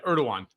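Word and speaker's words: Erdoğan: Yeah, Erdogan.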